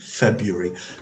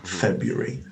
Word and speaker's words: February: february you're still gay you're just dropping to r but you're maintaining your arrest and that's that's common here as well feb february february as i'm saying that i'm hearing my mother nagging me say it properly i was i was